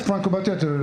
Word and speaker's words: Franco Battiato: And you're gonna have to help me with the pronunciation. He was the guitarist for Franco Battiato. Yes, Franco Battiato.